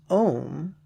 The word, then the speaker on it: Om: The first of the 6 syllables, Om, rhymes with home, and could be like